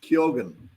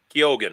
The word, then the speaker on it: Keogan: My last name is pronounced Kyogan. Keogan. I knew I had it wrong, so Keogan.